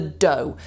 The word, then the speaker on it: dough: cookies, but just the dough. Watch out for the pronunciation of that word, by the way. Dough. It looks weird, but it's just pronounced dough.